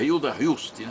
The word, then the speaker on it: Hilda Hilst: Hilda Rust Hilda r o nome dela se pronuncia Hilda hust né isso o senhor foi